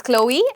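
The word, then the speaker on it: Chloé: It's Chloe, and this one is Chanel.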